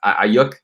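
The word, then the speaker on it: Aiyuk: Ayuk? Yeah, Brandon Ayuk.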